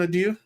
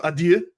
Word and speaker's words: adieu: You're gonna have to teach me how to pronounce that diphthong at the end there at some point. Yeah, it's a sound we don't have in English.